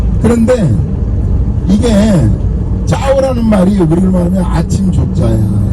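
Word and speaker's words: chào: 그런데 이게 짜오라는 말이 우리를 말하면 아침 조자야 이렇게 쓰는. 예? 예. 그럼 우리는 이걸 어떻게 읽어요? 조 이렇게 있잖아. 한글 우리는 아침 조. 예? 그거를 베트남에서는 발음을 짜오 이렇게 하는 거야.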